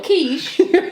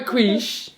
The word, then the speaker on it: quiche: A quiche.